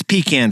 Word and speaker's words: pecan: sports, the jobs market, or how the city pronounces the word pecan. It's pecan.